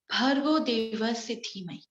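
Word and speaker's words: भर्गो देवस्य धीमहि: The pronunciation, Bhargo Devasya Dhimahi.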